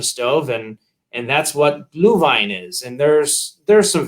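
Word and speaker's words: Glühwein: the christmas season and it's actually pronounced blue vine and what it is yes uh gluhwein and what it is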